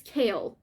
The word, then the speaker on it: Kale: or whatever I like oh it's Cole it's not Cole it's kale I really like nemia